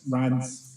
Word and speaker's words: Reims: was just like, oh, how'd you pronounce it? And I'm like, oh yeah, it's Reims.